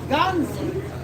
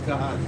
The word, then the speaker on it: Gehazi: But Elisha had the servant Ganzi, if I'm pronouncing Gehazi, excuse my pronunciation of these Hebrew names. Yeah, I kind of like Ganzi as well, but his name is Gehazi.